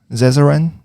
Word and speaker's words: Zezeran: Today we have Louis Zezeran. He's, did I pronounce that right? Correct, yes.